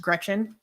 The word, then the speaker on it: Greczyn: So maybe look up like Atheist Republic, Alice Gretchen. It's spelled Greczyn, but it's pronounced Gretchen.